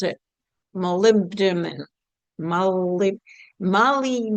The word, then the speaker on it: molybdenum: One of the trace minerals that rarely gets discussed is I don't even know how to pronounce it. molybdenum moly- moly- b- denum molybdenum um So, that's m o l y b d e n u m.